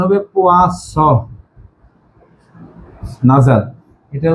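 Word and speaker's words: poisson: এটা উচ্চারণ হবে পোয়াস নাজাল, এটা উচ্চারণ হবে পোয়াজ, এই নাজাল।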